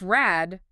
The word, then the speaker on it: Rad: If rad wheel sounds like rat at the end of a word, Bloomfield would have to say it is a T. Yes, but it's not. It's clearly a D, that's just pretending to be a T for a second. If you make it plural, Raider, the D comes right back.